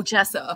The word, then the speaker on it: gesso: get your guess though it's a g that's pronounced J I've been calling it gesso for years and people are like what do you want you're guessing you want that oh Jessa okay you asked about Belina